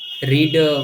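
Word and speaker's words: read: English में जैसे कि हम यदि यही देखते हैं जैसे कि रीड है, रीड हुआ, तो रीड की स्पेलिंग क्या है?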